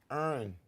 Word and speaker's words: Erin: It's Erin. You Erin. don't pronounce the ER. She said her name means like there's. Erin. Her name sounds like there's air in here. Yes, Erin.